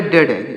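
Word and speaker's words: dead: ए एन डी ई ए डी इसे पढ़ेंगे डेड डी ई ए डी डेड डेड means क्या होता है डेड मींस होता है मृत्यु डेड मींस क्या होता है दोस्तों मृत्यु डेड मींस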